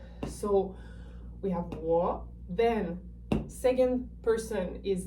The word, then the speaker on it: 我: 我, it's descending and then ascending.